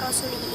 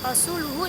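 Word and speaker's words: رسولُهُ: Padahal seharusnya membaca kata rasulihi ini bukan rasulihi, akan tetapi rasuluhu dengan mendomahkan huruf lam pada kata rasuluhu.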